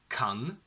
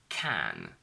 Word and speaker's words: can: my name is sam can is not pronounced as khan ken because that's barbie's boyfriend we only say can and that's it for